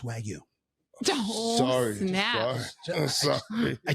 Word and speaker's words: Wagyu: and I think it's pronounced Wagyu. Oh, Sorry. snap. Sorry. I just don't want you to look. I don't want you to sound silly. Okay, that's all. Say it again. Wagyu.